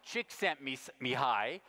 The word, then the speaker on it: Csikszentmihalyi: I once asked him how you pronounce his name and he said call me Mike me hi csikszentmihalyi is talking here about